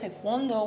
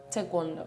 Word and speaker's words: Taekwondo: I started with Taekwondo when I was 2 years old. You say it properly. Taekwondo.